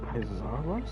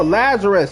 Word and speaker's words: Lazarus: Man, I cannot pronounce his name. Isarus. Look. Oh, Lazarus. It's Lazarus. I thought that was a I, not a L.